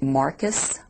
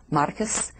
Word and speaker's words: Marquez: needs to think again my last name is m a r q u e z and it's pronounced Marcus Marcus because it is Cuban descent my husband speaks Spanish